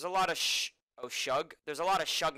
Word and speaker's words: Suge: __ ] there's a lot of sh oh shug there's a lot of chug nights in the